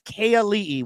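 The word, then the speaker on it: Ka'ali'i: By the way you say his name, living in Hawaii for 15 years, it's Kay Ali'i, which means royalty in Hawaiian, and then Kanekoa.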